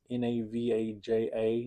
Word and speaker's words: Navaja: And it's based on the old um Spanish Navaja knives, I believe is how it's pronounced. NAV AJ AA Navaja or Naja.